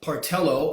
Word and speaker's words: Portello: Doug Portello last week I mispronounced and misspelled his name it's Doug part ello on the Cabrillo neighborhood